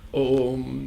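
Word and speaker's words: ॐ: So Bhagavan started saying, hey, you should pronounce it as one akshara only. Om, the sorrow. Om.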